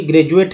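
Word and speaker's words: graduate: तो डी का उच्चारण जो है ज के रूप में होता है, हालांकि ड द होता है, तो आप ड द पढ़ देंगे तो कन्फ्यूजन हो ही जाएगी।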